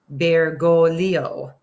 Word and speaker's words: Bergoglio: was Jorge Mario bergoglio Jorge that's how this pronounced may Rio Bear go Leo we're gonna move my